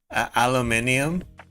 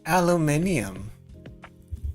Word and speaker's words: aluminium: it like the aluminum aluminium in in America we pronounce it as aluminum but I know in some other English countries they're like aluminium aluminium which sounds super wrong